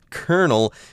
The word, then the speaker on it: colonel: a Dada okay but in English we say colonel even though it is spelled Co l o-n-e l colonel eNOS when you're talking